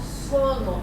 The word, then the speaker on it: Sono: This project is called Sono, S-O-N-O.